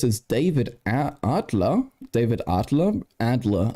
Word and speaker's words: Adler: David Adler David Adler Adler I guess an American but this is a German name folks I'm pronouncing it correctly David Adler of of